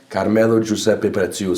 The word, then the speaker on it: Carmelo Giuseppe Preziuso: it's it's like if you do the proper pronunciation yeah caramel or juice epithets you so I can't sound like I don't want